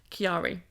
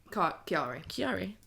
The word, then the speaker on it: Chiari: You don't elongate the syllables that much, Sorry. but Chiari. Chiari.